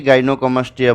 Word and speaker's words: gynecomastia: breast বড় হয়ে যাওয়াটাকেই গাইনোকমাস্টিয়া বলে গাইনোকমাস্টিয়া গাইনিকমাস্টিয়া গাইনেকোমাস্টিয়া এটা বিভিন্নভাবে যার যার সুবিধা মতো উচ্চারণ হয় তো এই গাইনেকোমাস্টিয়াটা যখন